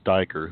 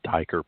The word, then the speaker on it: Steiger: Nobody knows how to say Steiger around here. Well, to me, if you go Eye of the Steiger Promotions, to me, it has to be Steiger. Well, plus I know how to pronounce the E and the I thing, but I don't think